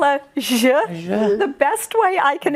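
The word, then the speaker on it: Ж: And it's pronounced je.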